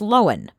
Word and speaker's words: Lohan: By the way, my name is pronounced Lohan.